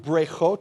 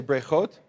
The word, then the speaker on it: breichot: We have here, what they've done is they've taken v'nivrechu, say v'nivrechu, and the word brechot, say brechot.